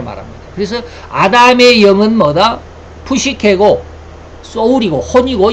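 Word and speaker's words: ψυχή: 이 헬라어로는 푸시케, 여기 꼭 여기 삼지창까지 되어 있는 게 있죠. 이게 헬라어입니다. 푸시케라고 읽습니다.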